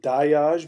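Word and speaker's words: Dagaz: I'm looking specifically for the dye as I pronounce it die ah spell da Gaz it comes from the word for day I pronounce it die Oz because in some of the Germanic languages they sometimes pronounce G and they sometimes don't that's why in English we say day and that's why in German they say doc let me see here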